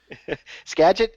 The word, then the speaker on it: Skagit: this next race is it's uh i can't pronounce this gadget uh yakima yakima why did i say sketch i don't know skagit skagit is burlington okay that's where i was